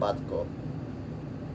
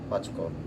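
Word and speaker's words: батько: So I thought for him that would be mate and batko. Bachko, that's how they say it.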